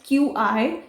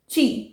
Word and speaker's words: Qi: तो we will not pronounce it एज QI, इट इज़ ची।